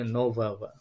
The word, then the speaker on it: нового: Jadi perubahan kata sifatnya adalah nove menjadi novogo, ya, ogo, novogo, ya, dibacanya novawa, ya.